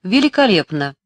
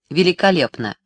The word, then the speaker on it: великолепно: она справляется с лифтом великолепно ударение на втором е оно долго а о посреди почти не слышно великолепно Я конечно с легкостью